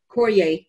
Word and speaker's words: Carrier: way but still uh our grandfather papa always pronounced it cory even though we spelt carrier anyway there was just